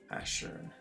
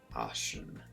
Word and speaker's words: Ashern: It's Ashern, not Ashen.